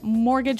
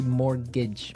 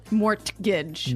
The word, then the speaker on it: mortgage: mean there's this strange mortgage with a t yeah it has a t in it but you don't pronounce it you say morage morage so not Mort Mort Gage not Mor Gage morgage